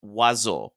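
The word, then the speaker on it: oiseaux: it and you want to say O It's pronounced wazo and that means birds in French you have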